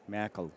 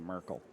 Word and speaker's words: Merkel: I like the Merkel, which is the proper pronunciation, as opposed to Merkel.